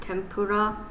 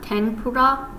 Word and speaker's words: tempura: this one okay so sometimes it can be pronounced say like an M sounds like m so for example but this is like how you would write tempura but yeah this like end right here it's not tenura it's more like a